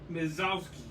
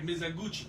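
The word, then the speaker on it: Mizoguchi: First appearance of Maya Maps Mizowski, I guess, as Robin. Okay. I don't know how to say that last name. No, you said it right. No, sorry, Mizaguchi.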